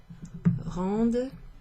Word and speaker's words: rendent: Les jouets rendent, you pronounce that D at the end of that, but the first 3 conjugations you don't need to pronounce.